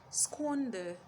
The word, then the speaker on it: squander: Squander, squander, squander. And the last one, swallow, swallow. Now there are several words spelled with the letter A making the sound O, but you will hold